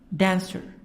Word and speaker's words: dancer: We have also the word dancer. The stress is in the first part. Jumper. Jump, jump, jumper. So the stress on the first part. Or dancer.